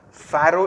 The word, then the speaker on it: pharaoh: Pharaoh is the way it is pronounced, P-H-A-R-A-O-H.